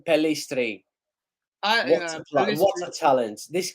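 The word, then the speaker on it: Pellistri: so oh what apply by police pelistry I think that's how you pronounce his name palestre yes what's my talent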